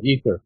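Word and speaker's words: aether: the ather if I'm pronouncing that correctly yeah ether ether it's spelled in two different ways e h e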